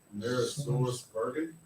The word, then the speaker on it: AmerisourceBergen: AmerisourceBergen.